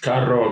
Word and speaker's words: carro: "Abrig" means a coat "carro" means a car Say it again "Carro" Your pronunciation of "R" is excellent Of course, because I